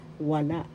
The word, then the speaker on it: wala: Wala. Wala. That means none. First syllable wa. Second syllable la. The second syllable has the accent.